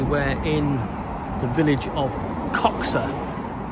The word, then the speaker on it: Coxhoe: in the village of coxa which is spelled c x h o e but it's not coxo it's coxa it's a Village Tavern